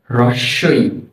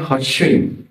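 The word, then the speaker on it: হ্রস্ব ই: এরপর যে বর্ণটি রয়েছে এর নাম হচ্ছে রসই। রসয় অনেকে এটাকে বলে হসই না না হসয় না এর নাম হচ্ছে কি রসই রসই এর পরের বর্ণটি হচ্ছে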